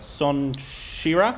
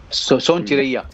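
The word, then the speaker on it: Sonchiriya: And once again, forgive me for butchering the name, but Son Shira, right? Son Chiraiya. Thank you.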